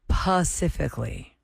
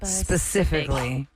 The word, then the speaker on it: specifically: you skipping the L other words that are mispronounced specifically the word specifically how else can you say it people say pacifically like like the West Coast Pacific Pacific like a baby specifically specifically um frustrated frustrated what you say that